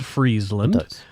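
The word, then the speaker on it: Frisland: just south of Iceland I'm just going to say it sounds cold but it's spelled f r i s l a n d but still I agree it sounds pretty cold freezeland and its location would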